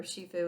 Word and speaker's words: shifu: either pronounced sifu or shifu it's spelled s-h-i-f-u but i think they say sifu when they pronounce it but he's a kung